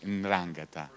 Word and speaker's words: 'Ndrangheta: the world is the 'Ndrangheta, almost impossible to pronounce, 'Ndrangheta.